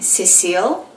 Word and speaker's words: Cecille: Her name was CECILLE, which in Filipino, like my background, we pronounce it Cecil.